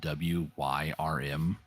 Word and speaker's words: Wyrm: So Warframe, they have a companion called Worm, and it's spelled W-Y-R-M. Wyrm.